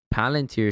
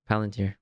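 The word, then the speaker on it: Palantir: Oh Peter Tio is selling his his his Palunteer shares.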